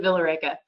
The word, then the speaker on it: Villa Rica: So take everything you learned in Spanish class and throw that out the window. We pronounce it Villa Rica.